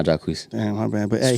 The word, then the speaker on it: Jacquees: I always thought it was Jacquees. Nah, Jacquees.